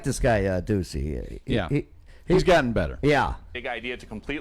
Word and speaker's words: Ducey: Ducey? Yeah, his nickname is Oh. Deuce. And it just rhymes with so much stuff like Goosey Deucey or, you know. Juicy. Juicy Deucey.